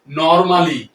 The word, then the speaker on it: normally: সাধারণত এই ওয়ার্ডটিকে আমরা ইংরেজিতে নরমালি বলে থাকি, যার সঠিক উচ্চারণটি হবে নরমালি।